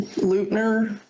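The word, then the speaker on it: Payton Leutner: How would you pronounce that last name? Peyton Leutner. Okay. Lautner.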